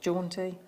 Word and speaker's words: jaunty: I love the word jaunty do you think do you think you want a yeah how do you say it John T you're saying it right yeah right yeah it